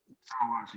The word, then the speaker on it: Deshaun Watson: How do you pronounce it? Is it Deshaun Watson? Deshaun Watson, yeah.